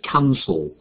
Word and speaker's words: cancel: So it's the first column, two syllables, and the stress is on the first syllable, so it's cancel.